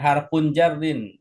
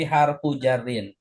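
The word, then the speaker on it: حرفُ جرٍّ: Jangan harfun jarrin, tapi harfu jarrin. Kalau mudhaf nggak boleh tanwin.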